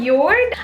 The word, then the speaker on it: Jord: with it it's from York I actually already featured your last time and I pronounced it as jord which was not the way you pronounce it at all they sell really good quality